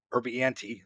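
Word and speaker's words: Urbinati: Rob Erdich, yeah, I can't pronounce his last name. Urbianti, thank you.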